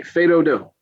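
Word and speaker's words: fais do-do: Okay, Fedodo.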